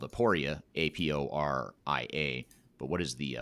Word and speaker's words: Aporia: last name is hasten h-a-s-o-n and the company is spelled aporia a-p-o-r-i-a but what is the website address if